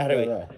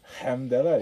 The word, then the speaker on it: Alhamdulillah: Alhamdulillah. Alhamdulillah. Yeah. You have to get that. No, but it's not a cha. Alhamdulillah. Yeah, it is. It's like a guttural You sound.